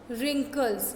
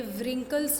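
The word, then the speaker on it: wrinkles: रिंकल्स। ये व्रिंकल्स नहीं होते हैं, क्या होते हैं? रिंकल्स। यहाँ जो डब्लू है दैट इज साइलेंट। ओके, इसे हम प्रोनाउंस नहीं करते हैं।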